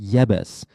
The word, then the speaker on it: Jebus: They're called the Jebusites, sometimes pronounced Yebus. The Jebusites were a people who lived in the region of Jerusalem and Hebron together with the Anakim. Jebus.